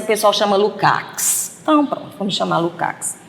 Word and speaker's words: Lukács: Eu tinha um professor que chamava Lukács, eu achava tão bonita a pronúncia dele, Lukács, né? Mas o pessoal chama Lukács.